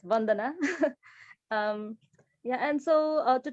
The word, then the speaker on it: Bandana: happened on Facebook and I'll go quickly to Bandana and apologies if I if you could let me know I'm pronouncing your name correctly um thank you Savin